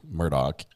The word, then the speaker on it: Murdaugh: she's watching it's for you um murder podcast pronounces it elec Murdock according to the locals yeah Alec is is